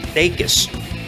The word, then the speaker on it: Dacus: Arturo just put a review of Boy Genius on there, which we both agree that Lucy Dacus, as it turns out her name is pronounced, is a genius.